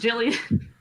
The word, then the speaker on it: Gillian: It's pronounced Jillian.